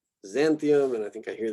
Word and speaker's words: Xanthium: Xanthium, so this usually gets kind of a Z sound. Xanthium, and I think I hear this one usually said Xyrus.